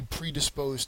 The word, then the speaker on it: predisposed: you you might be predisposed to a few medical conditions and that's what a lot of times where you hear this word is in terms of medicine so predisposed has the third syllable accented it is a